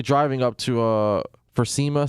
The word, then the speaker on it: SEMA: He's currently driving up to uh for SEMA. Sema, how you pronounce it?